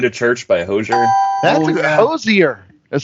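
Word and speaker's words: Hozier: That's Hosier. Is how I would pronounce that one.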